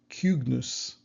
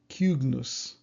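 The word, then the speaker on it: cygnus: And finally, I found a couple words that are supposed to have this U pronunciation. So I believe it's like cugnus, cugnus, and culindrus, culindrus.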